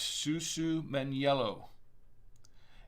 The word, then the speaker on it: Susumaniello: pugets in italy and um and it is pronounced susu meniello and uh actually from reverse wine knob they